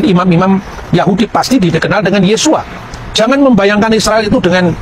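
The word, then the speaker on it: Yeshua: membaca e nama Yesus ketika dia orang Yahudi dia pasti membaca yesua yang percaya bahwa Yesus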